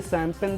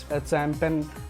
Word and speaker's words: champagne: आप इसका प्रोनाउंसिएशन बहुत सारे लोग चैम्पियन या फिर चैम्पियन या फिर ऐसे बहुत सारे प्रोनाउंसिएशन करते हैं, लेकिन सही प्रोनाउंसिएशन इसका होता है शैम्पेन। यहाँ पर भी आप देखेंगे तो जी और एन एक साथ आया है, इसलिए जी साइलेंट है।